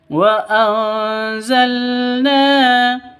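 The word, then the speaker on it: وَأَنزَلْنَا: Wa anzalna minal musirati maa wa anzalna minal musirati wa anzalna nun mati bertemu dengan za atau zain Cara bacanya samar didengungkan siap-siap ke huruf zanya karena bacaan ikhfa hakiki. Wa anzalna na dibaca panjang dua ketukan karena ada alif di sini.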